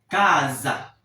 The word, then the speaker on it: casa: Dans le mot casa, la lettre S est entre deux voyelles, notamment la voyelle a ça prend le son z. Cazza, c'est comme en français,